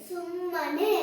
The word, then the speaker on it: ಸುಮ್ಮನೆ: ನಕೇತ್ವನೆ ಸು ಮ ನೆ ಸುಮ್ಮನೆ ವೆರಿ ಗುಡ್ ಹೀಗೆ ಒತ್ತಕ್ಷರ ಇದ್ದಾಗ ಒತ್ತು ಉಚ್ಚಾರ ಮಾಡಿ ಸು ಮ ನೆ ಸುಮ್ಮನೆ